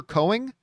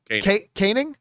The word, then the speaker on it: Koenig: believe i always mispronounced his name but walter cohen is that how you pronounce chekhov's name walter koenig caning okay so he was like this had a